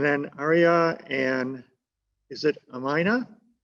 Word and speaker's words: Amina: And then Aria and, is it Amina? How do you pronounce that? It's Amina.